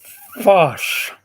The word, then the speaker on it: Phosh: FOSS, which, as you know, is spelled PHOSH.